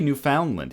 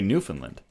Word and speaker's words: Newfoundland: you know say Newfoundland I've never heard it pronounced Newfoundland yeah exactly we don't say Newfoundland here we say Newfoundland for once you are wrong